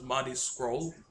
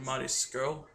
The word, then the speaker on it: Marty Scurll: his name is spelled, I always thought it was Marty Scurll. It's actually Marty Scurll.